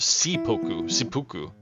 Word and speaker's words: seppuku: It's pronounced Seppuku.